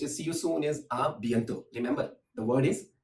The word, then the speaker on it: à bientôt: Well, there is another word which is see you soon is à bientôt.